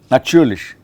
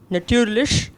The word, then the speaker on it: natürlich: That U umlaut, it has a, see, even the word for die Natur. Die Natur is a word for nature. Here the T is die Natur, T. Aber with the umlaut that follows, it becomes a ch, natürlich. It's almost like T, C, H, kind of a natürlich.